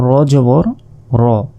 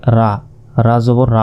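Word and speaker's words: رَ: জাল জবর জা এরপর র জবর র অনেকে এটাকে বলে রা জবর রা বলে এটা কিন্তু ভুল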